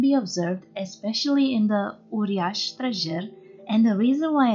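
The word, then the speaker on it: uriaș: with the purias which is the plural for uriash the letter s with a diagramical mark underneath is pronounced shu like when you say for example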